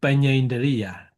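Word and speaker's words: paññindriya: So Panya Indriya, Panya is Panya and Indriya. This is not difficult.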